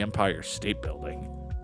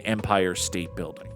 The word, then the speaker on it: Empire State Building: Why do you put so much emphasis on the word state in empire state building?